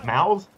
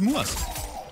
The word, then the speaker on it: Muas: How do you pronounce it? Mouths? It is just Muas. Muas?